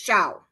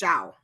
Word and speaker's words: Xiao: the name Xiao Xiao it's Shia c x i a o is pronounced Shia okay Shia Shia xia